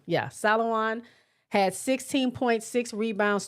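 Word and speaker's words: Salaün: Salawan. Yeah, Salawan had 16.6 had six rebounds, two assists, one steel.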